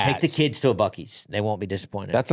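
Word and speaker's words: Buc-ee's: Bies. Yes, the correct pronunciation, too.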